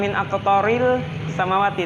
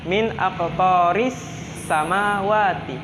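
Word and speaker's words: مِنْ أَقْطَارِ السَّمَاوَاتِ: Jadi bukan min aqtaril samawati, tetapi dibacanya min aqtaris samawati.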